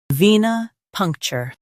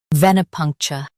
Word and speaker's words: venipuncture: venipuncture Now, read the syllables of British pronunciation shown on the screen naturally. ven ih punk chuh venipuncture ven ih punk chuh venipuncture Stress punk and keep cher light.